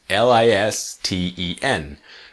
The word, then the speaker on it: listen: the pronunciation is interesting because the correct spelling is l-i-s-t-e-n but the pronunciation is really listen not listen listen to me so listen to me